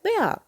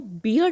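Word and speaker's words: bear: High up इन एन icy layer lived a little polar बेयर। यहाँ आप देखिए बच्चों कि मैं इसको बियर नहीं बोलती हूँ, ये बोला जाता है बेयर।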